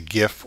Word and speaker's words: GIF: file format is the GIF or GIF I've heard people pronounce it both ways um it is a